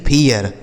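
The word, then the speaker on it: fear: जैसे एफ से हो गया फ। इ ए का उच्चारण हो गया इय। और आर से हो गया र लिखा है फियर। ठीक है? इसे पढ़ा जाएगा फियर। फिर नहीं फियर।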